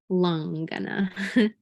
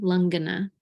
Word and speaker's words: langana: use the word langana lung like lung but instead of the lung that you breathe with it's along with an A but it's still pronounced lungana lung like you breathe